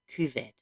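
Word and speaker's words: Cathbad: that is spelled cath pad c-a-t-h-b-a-d is actually pronounced cuvet not me so that's a very useful guide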